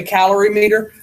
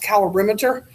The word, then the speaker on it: calorimeter: to use a calorimeter or some people say calorie meter which is pronounced calorimeter um it's a fancy piece of equipment to